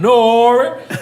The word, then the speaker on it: N.O.R.E.: Like they pronounce my whole name Nori.